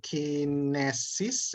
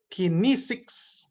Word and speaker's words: kinesics: Someone mentioned kinesis, it should be kinesics. Actually, I checked it in the dictionary, it should be kinesics, interestingly.